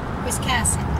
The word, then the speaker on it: Wiscasset: our lives again keep her busy whis casset Wiscasset oh Wiscasset it's always good to have somebody